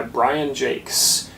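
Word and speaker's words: Brian Jacques: recommendation for you today is red wall by Brian Jake's and yes that is how you say his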